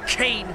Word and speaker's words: Cain: Cain. Rhymes with pain. And Cain will beat Skullface.